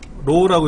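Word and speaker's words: RAW: RW라는 거 아세요? 로우라고 읽어요.로 로로.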